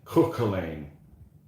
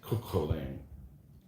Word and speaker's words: Cuchulainn: I'm not up on my Gaelic pronunciation, but Cuch is Cook, Cook, and then Cuchul, and then Ainn, Cuchulainn.